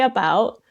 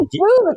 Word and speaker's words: about: It's not a boot. It's not a boot. It's like a boat.